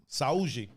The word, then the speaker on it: Saúde: Saúde. That's how you say it in Brazilian Portuguese.